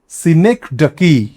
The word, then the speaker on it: synecdoche: DOCHE, SYNECDOCHE, সিনেকডাকি। Exact pronunciation যদি আমরা দেখি তাহলে উচ্চারণটা কিন্তু এরকমই আছে।